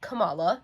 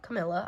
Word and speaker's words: Camala: Dale and Camala, not Camila. I've been saying that name wrong for the past however long, but it's Camala, and I'm going to say it like that now.